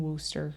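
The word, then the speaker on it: Worcester: She was born in Worster, Massachusetts.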